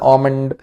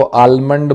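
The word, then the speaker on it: almond: nuts है है ना आमंड आमंड बोलते हैं जी है ना कई लोग इसको आलमंड बोलते हैं एल इसमें साइलेंट होता है ध्यान रखिए इट्स आमंड ठीक है ग्राउंड नट्स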